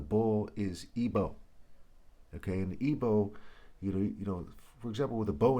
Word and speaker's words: Igbo: Okay, and Igbo, for example, with a bow and arrow, we spell B-O-W. Igbo's I-G-B-O, or the G is silent.